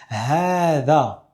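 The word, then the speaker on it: هذا: Pourtant, j'ai bien fait un prolongement. "ha da" Alors, c'est une rare exception de la langue arabe où on va voir une lettre qu'on prononce mais qui ne s'écrit pas. Et la deuxième particularité, c'est qu'après le dhel, on a un alif, on ne fait pas de prolongement pour celui-là. On dit "ha za".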